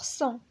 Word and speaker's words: cent: هنا عندنا S A N S كتنطق صون، هنا S A N G كتنطق صون، وهنا C E N T كتنطق صون، وهنا S E N S صون، وهنا S E N T صون.